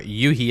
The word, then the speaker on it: Yohi: Yohi, or Yuhi as they want you to pronounce it, but it is spelled Yohi.